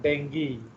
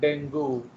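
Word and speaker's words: dengue: टू in case of डेंगी, so this is not डेंगू, बहुत लोग इसको डेंगू pronounce करते हैं but actually it इज डेंगी, okay, ये डेंगी शब्द है, ओके।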